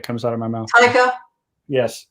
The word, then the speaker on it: Taika: Taika. Yes, Taika.